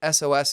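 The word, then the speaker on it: ESOS: and she later launched SOS cosmetics, pronounced SOS, it's spelled E S O S, the world's first patented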